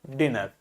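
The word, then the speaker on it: dinner: vowel था तो ये क्या हुआ डिनर तो डबल एन है so that it is pronounced as a short वल लेकिन देखो यहां पर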